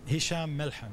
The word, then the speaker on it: Hisham Melhem: First of all, am I pronouncing your name both correctly? Hisham Melhem.